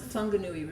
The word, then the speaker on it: Whanganui: scary but anyway um this river is actually pronounced the whanganui river I just want to explain to you